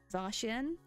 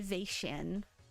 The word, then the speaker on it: Zacian: I think I used to say Zacian back when Sword and Shield first released. But yeah, now I know is Zacian. No, it is Zacian. Oh, actually. Wait, no, I'm wrong. I was originally correct. It's Zacian, not Zacian.